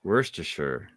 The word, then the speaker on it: Worcestershire: Is it Worcestershire? Worcestershire. Worcestershire. No R, just Worcester. Worcester. Worcestershire.